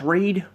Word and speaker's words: Reid: I think it's Reed. It's pronounced Reed.